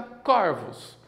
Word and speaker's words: corvos: no singular centro circunflexo no plural fica corvos existem muitos corpos que